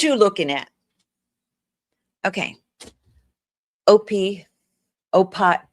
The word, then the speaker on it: OPI: Oh, you pronounce each letter OPI.